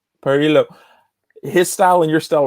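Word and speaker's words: Parrillo: Lucio Par- Parillo. Parillo.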